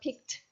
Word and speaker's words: picked: But again, when you use it as a past tense verb, picked. Okay. So no extra syllable.